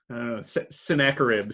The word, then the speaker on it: Sennacherib: hez reign of hezekiah sennacherib sounds like like you're having a snack of ribs so i i like